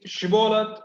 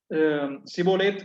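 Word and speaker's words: ஷிபோலேத்: நீ ஷிபோலத் என்னும் என்று சொல் என்பார்கள். அப்பொழுது அவன் அப்படி உச்சரிக்க கூடாமல் சிபோலேத் என்பான்.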